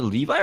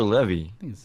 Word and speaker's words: Levi: the actor playing Shazam Zachary Levi or Zachary levy however you pronounce his name actually is it Levi levy I I mean both pronunciation are correct what we actually call